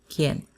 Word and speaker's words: quién: That U after the Q is silent. So pretend that it's not there. Alquilar. Queso. ¿Quién?